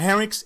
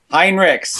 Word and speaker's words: Heinrichs: with us today, Heinrichs, but the correct pronunciation is not Heinrichs, is what? Heinrichs.